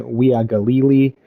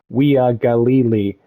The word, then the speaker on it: Uiagalelei: pronunciation stuff of like, UIA makes the we sound or whatever. But a friend of mine who born and raised in Hawaii always told me that the easiest way with some of these Polynesian names is you just pronounce every vowel, right? So Uiagalelei, right? So if you kind of just break it down slowly.